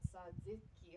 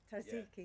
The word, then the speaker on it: tzatziki: tzatziki. I was gonna say Tzatziki? it wrong. Tzatziki.